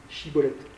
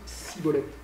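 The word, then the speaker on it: schibboleth: prononcer épi de blé, chibolette. Et il se trouve qu'à Galaad, on ne prononce pas chibolette, on prononce cibolette. Et donc tous ceux qui prononcent chibolette sont égorgés, parce qu'ils sont de Galaad.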